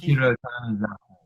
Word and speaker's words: Junichiro Tanizaki: You'll probably be able to pronounce the name a lot better than me, but Junichiro Tanizaki. Junichiro Tanizaki.